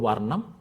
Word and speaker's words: Varnam: So the product is called Varnam. It's pronounced in Indian language Varnam.